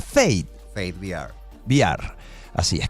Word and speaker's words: Fate: Y tiene un espacio que se pronuncia Fate.